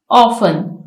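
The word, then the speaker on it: often: ऑफन, इसमें T silent है।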